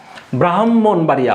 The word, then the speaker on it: ব্রাহ্মণবাড়িয়া: সুবিধা খেয়াল করুন ব্রাহ্মণবাড়িয়া আমরা উচ্চারণ ক্ষেত্রে কি হবে ব্রাহ্মণবাড়িয়া হ আসে না হ প্লাস মু এভাবে আপনি যখন শব্দ